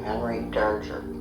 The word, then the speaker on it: Henry Darger: We pronounced his name Henry Darger.